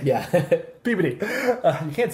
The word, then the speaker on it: Peabody: were saying yeah massachusetts massachusetts where in particular peabody mess of course you said it right yeah peabody you can't say peabody um and so what